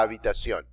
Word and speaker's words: habitación: La habitación. Notice the H is silent.